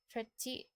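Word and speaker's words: trettio: All numbers from 30 to 90 usually drop the O when pronounced. For example, treti, femti.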